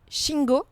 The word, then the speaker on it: Shingo: Parce qu'alors vous avez eu le prix Shingo, c'est comme ça qu'on le prononce.